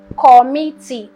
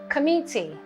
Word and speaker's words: committee: is a shot so it is not call me T or call me t it is committee right just committee c